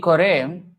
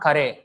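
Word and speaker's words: করে: Jadi kore, and it's not kare, kore. In Hindi, it's kare, actually. In Bengali, it's kore.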